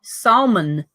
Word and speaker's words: salmon: Her Majesty show some salmon salmon salmon I say salmon yeah I say so how you guys say it I don't pronounce the L Oh Lauren ah Davidson